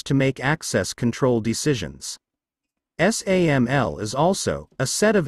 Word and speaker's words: SAML: Security Assertion Markup Language SAML, pronounced SAML 1, is an open standard for exchanging authentication